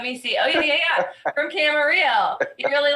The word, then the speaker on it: Camarillo: From Camarillo. You really like him. Please put your hands together for. Hey everybody, I'm and I live in Camarillo, California. It rhymes.